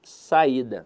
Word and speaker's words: saída: avaliar com vocês aqui a palavra saída e veja que a sílaba tônica dela está na penúltima sílaba bom então a verdade